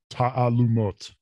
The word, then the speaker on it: Taalumot: My name is pronounced Taalumot. Taalumot. Yes, the emphasis is on the last syllable. And the key thing that I think people have trouble with is that those two A's next to each other, there's like an apostrophe in between.